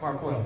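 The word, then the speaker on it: Marqueal: u e a l it's marquell just think you sh is not how it's spelled so it's marel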